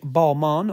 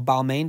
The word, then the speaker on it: Balmain: are a pair of vintage balmon or Balmain depending on how you say it um boots um they